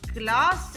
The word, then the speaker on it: glas: However, if you spell it with one S and pronounce it with a long A, as in glass, then it would mean a glass, like in English.